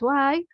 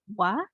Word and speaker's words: は: topic here is that's Has how did you find this grammar pattern? Any impression? So please don't forget the and the particle. So ha pronounce or read it as wa and then the desk